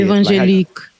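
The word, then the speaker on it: évangélique: It's like if you were just to say evangelique. Evangelique. And I know Professor Anthea Butler, who's a regular, she says evangelicals, and that's closer.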